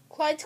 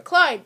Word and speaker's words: Clyde: Clyde, what a nice name. It rhymes with slide.